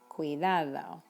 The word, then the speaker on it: cuidado: Notice that this little U isn't pronounced very strongly, but when combined with the I, it is strong.